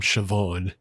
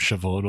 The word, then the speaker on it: Siobhan: I guess there was a character named Siobhan on there, but that's where you get your first hint that Gaelic is a silly language because Siobh is pronounced Shiv and it's like no it isn't.